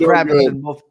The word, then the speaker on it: Kravitz: Pronounced Kravitz pronounced Kravitz in most parts of the world.